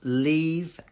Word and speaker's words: leave: Or can you pronounce leave and live? Okay, yeah, they are similar, but one has the E sound. So lee, got that wide mouth. Leave. And then to get the V sound, it's like the think.